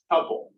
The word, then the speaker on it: tuple: Spelled like this. Tuple. Like multiple, that kind of thing.